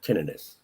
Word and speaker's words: tinnitus: You have tinnitus? It's pronounced tinnitus.